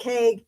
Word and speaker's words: poke: So it did so the word poke, pronounced poke, Pohkay, that's the pronunciation.